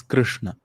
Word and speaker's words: Krishna: So it's not Krishna or Krishna, it is Krishna.